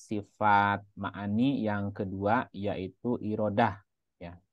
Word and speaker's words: Irodah: ma'ani yang kedua yaitu irodah ya sifat iradah irodah atau iradat kita dibacanya biasanya kan irodat itu secara bahasa dari